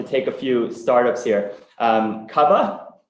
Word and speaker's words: Cuvva: Cuvva, not mispronounced here, C-U-V-V-A, is a very interesting new entrant in the UK motor insurance market.